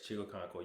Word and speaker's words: Chigoziem Okonkwo: Chigoziem Okonkwo. Oh, oh, well, he's not there anymore. Yeah, I was saying he left. Yes, he left. Yes, Chigoziem Okonkwo.